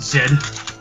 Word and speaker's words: Z: Although interesting, I read online that everywhere in the world, everyone pronounces it Zed, with the exception of most Americans that pronounce it Z, except you pronounce it Zed.